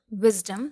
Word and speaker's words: wisdom: In other word, wisdom, there are two syllables. Wisdom. The syllable wiz is stressed and dum is not stressed.